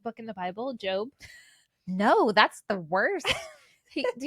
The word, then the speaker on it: Gob: So, his name is Job, but it's spelled G O B, so everyone calls him Gob.